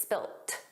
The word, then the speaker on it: spilt: that's spelled differently because it's spelled with a t and it's pronounced that way. So, it's just the end. In American English, it's always spilled, a soft d, but in British English, it's spilt.